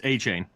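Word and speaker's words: Achane: chain nickname right now as long as you pronounce it correctly yes it's a chain that's what I said oh 18.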